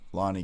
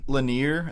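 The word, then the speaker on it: Lone'er: Because I keep calling it Lanier. That's how I just naturally want to call it. But everyone that I hear say his name says Lonnie. Yeah. So I just switched to Lonnie.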